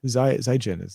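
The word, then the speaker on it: 再见: I will say Zaijian. Zaijian. That's goodbye in Chinese. Oh, okay. Zaijian.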